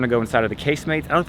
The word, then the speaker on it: casemates: We have a couple hours before our train, so we're gonna see the casemates, that's how it's pronounced, like casemates and not casemates.